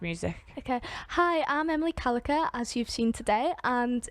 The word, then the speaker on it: Callacher: So basically, my name's Emily Callacher, and you're probably wondering how to spell that. So it's a bit like Gallagher, but you replace the G's with C's.